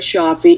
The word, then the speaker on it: Cioffi: predicting a connection here andy fraske mee shafi is it do i pronounce it correctly charlie yep okay that's how